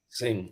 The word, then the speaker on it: Singh: Singh. Okay, the H is silent.